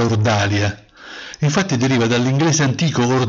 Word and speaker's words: ordalia: è tornata in Italia con la pronuncia francesizzata ma ormai consolidata di ordalia anche le parole girano